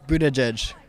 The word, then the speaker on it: Buttigieg: How do you pronounce his last name? Buttigieg. That's the fifth different way. How about you? It's Buttigieg.